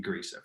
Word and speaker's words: Grisa: It's technically it's pronounced Grisa, I guess. My family always said just pronounce it Grisa, and I'm like, well, phonetically it makes no sense. Everyone always pronounces it Grisa, so we decided 2 weeks ago it's going to be Grisa from now on. So I don't have to